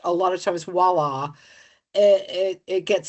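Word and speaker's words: voilà: And let me tell you, they go like, "Ooh, this started out beige, now voila!" And it's like Oh, wow. WALLA or WHALA or whatever. Yeah. Huh. That's terrible.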